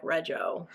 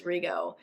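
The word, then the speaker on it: Rego: that rioo Barry backwards it looked like rejo but it's rioo um yeah so audio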